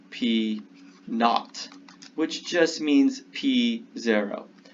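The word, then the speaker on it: P₀: This subscript notation here is pronounced P naught, which just means P0.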